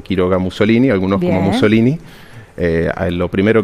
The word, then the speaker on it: Muzzolini: origen italiano Por supuesto mi apellido es con doble Z de hecho se pronuncia hasta Mussolini como como la pizza bien bueno entonces se